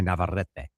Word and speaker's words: Navarrete: How's my Navarrete? It's perfect. Okay.